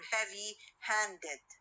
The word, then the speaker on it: heavy-handed: at the end okay we will have uh the stress on the second part or the second word for example when i say bad tempered bad tempered or heavy-handed this compound word consists